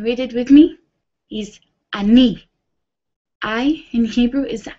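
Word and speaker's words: אני: Is ani. I in Hebrew is ani. And we spell that Aleph, Nun, Yud.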